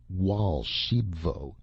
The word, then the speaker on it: Raoul Archambaud: my golden goose and raoul archambaud pronounced wall shebvo interrupted excitedly i showed